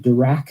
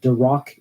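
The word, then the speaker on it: Dirac: for the large disparity by the way I pronounced the dur equation dur and not dck equation because I just can't help but think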